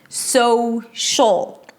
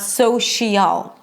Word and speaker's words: social: So, 'fai-NAN-sh'l', 'SOW-sh'l'. It's not 'SOW-shial'.